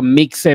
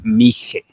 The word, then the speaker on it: Mixe: viendo los comentarios y no se dice mi se dice mige mige mige como Oaxaca que también es con x con x Okay es mige muy bien perfecto ahí